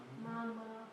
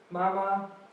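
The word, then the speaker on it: 妈妈: Who can try to pronounce it? Mama. Mama.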